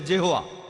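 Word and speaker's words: Jehovah: ঈশ্বরের একটা নাম আর উচ্চারণ করার সময় তারা সামনে একটা যে লাগায় আর এটা হয়ে যায় জেহোয়া এই হলো শব্দটার অর্থ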